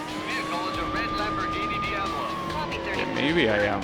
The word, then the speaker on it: Diablo: Okay, so interestingly enough, I thought that Americans pronounce this Diablo. They're actually pronouncing it properly. It's Diablo. That's how you pronounce that word. It means devil in Spanish and probably in Italian as well.